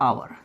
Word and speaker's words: hour: अब इस पर हम चलते ध्वनि पे, तो इसका उच्चारण होता है आवर।